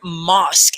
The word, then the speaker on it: mosque: good fake great okay and that word mosque it's like mask you know like we're wearing masks but it's with an ah sound mosque mosque okay moth thank you